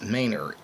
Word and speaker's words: Manor: mayor Texas it's written as Manor but it's pronounced mayor m a n o r this station is